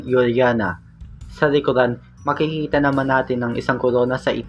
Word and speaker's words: Juliana: The former queen of the Netherlands, Queen Juliana (pronounced: yul-yah-nah) can be seen in obverse.